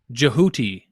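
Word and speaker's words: Djehuti: perhaps Jehuti. That's how you say it in Egyptian.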